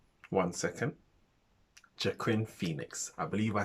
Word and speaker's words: Joaquin Phoenix: However, I don't know if I'm going to say his name right, so forgive me, but Quinn Phoenix. One second. Joaquin Phoenix.